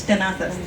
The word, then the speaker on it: Tenazas: So I want to talk about the genesis of my name, Tenazas, okay? It's pronounced, if you were Castilian Spanish, Tenazas, because Philip II had a lisp.